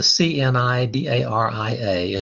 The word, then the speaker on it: Cnidaria: Now this one with the CNIDARIA is pronounced Cnidaria. The C is silent.